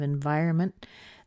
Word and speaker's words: environment: and by the way that auntie at the end of environment that's a combination sound of the N and a tea and mint but you don't hear a really strong tea in there but the N is very short and it makes up for the shortness of the T so environment environment we